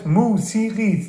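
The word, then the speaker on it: موسیقی: In Persian it's musiqi, 3 syllables. Musiqi. Mu-si-qi.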